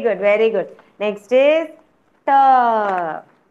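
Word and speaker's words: ट: Next is Ta. How I told you to pronounce Ta, children? Ta, how will you pronounce? Namaste, ma'am. Yeah, you will roll your tongue and pronounce ta.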